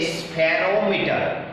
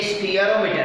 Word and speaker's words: spherometer: ये जो word spelling है SPHEROMETER स्फीयरोमीटर, उसको हम स्फीयरोमीटर बोलते तो नहीं है, हम बोल रहे हैं उसे स्फेरोमीटर, पर एक्चुअली ये स्फीयरोमीटर है।